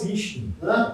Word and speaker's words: phishing: Phishing. Phishing. Sim, phishing. Na pronúncia phishing, que é de pescar, né?